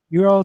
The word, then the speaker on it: eora: Asfand, can you go ahead and pronounce it again? Eora 3D. Euro 3D.